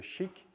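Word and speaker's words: SCHC: is based on the chic and make a static context at a compression as you can see it's pronounced Chic it's a technology which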